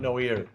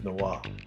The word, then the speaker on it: Noah: No, it's not Noir, it's Noah.